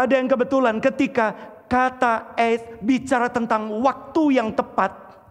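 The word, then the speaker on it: עת: MM bisa munculkan eth. Itu untuk pertama kali, terus klik.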